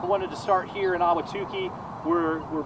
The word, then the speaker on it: Ahwatukee: my first time, and I didn't even know how to pronounce it until today, and it's Ahwatukee, right?